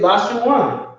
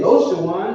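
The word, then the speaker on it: לשון: Anytime you see it, Lashawan. They don't say Loshawan. It says the Jewish man will pronounce it La Shawan, or however he pronounces it, but it'll be a La, not a Lo.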